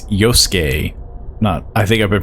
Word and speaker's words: Yosuke: Also, I think I've been mispronouncing his name. It's Yosuke. I think I've been pronouncing it Yosuke.